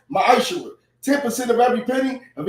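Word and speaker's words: מעשר: Means tenth in Hebrew, and it's pronounced ma'ashura.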